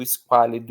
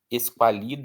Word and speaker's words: esquálido: Esqualido, esquidô, esquálido.